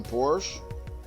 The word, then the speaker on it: Porsche: spend money on the Porsche Porsche sorry say Porsche cuz that's the German pronunciation Porsche close enough it's